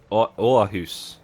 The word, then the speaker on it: Aarhus: And then Jimmy's response was, "That's not how you say it." Aarhus. It's that circle above the.